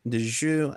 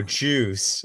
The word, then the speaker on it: Djoos: It's spelled DJOOS. Oh, juice. Okay. I was Juice. like, what? See, I didn't know the D was silent, so my bad.